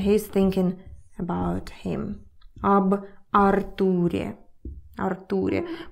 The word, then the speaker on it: Артур: Об Артуре. Артуре. By the way, in English, this name is Arthur. So you stress the first letter, Arthur. In Russian, it's Артур.